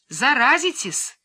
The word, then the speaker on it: заразитесь: и кричала не подходите заразитесь с ударением на втором а каждый день ходили